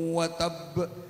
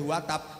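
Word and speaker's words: وَتَبَّ: Perhatikan, tabbat yada abi lahabi watab, dan membacanya nggak boleh watab, harus watab.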